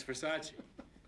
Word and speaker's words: Versace: too nice dress thanks it's a Versace it's Versace what Versace pronounced Versace oh you want to walk down a spot go get something to eat where is it just down from Versace Versace ah right Versace oh yeah